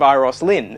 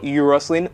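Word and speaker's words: Euros Lyn: corrected my pronunciation of its Iris Lynn not URIs Lynn iris Lynn and it's a Welsh name meaning golden and a big thank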